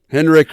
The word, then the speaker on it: Henrich: It used to be Heinrich, though. Henrik was Heinrich at some point, I was going to say. Yeah, the I was dropped there from the pronunciation.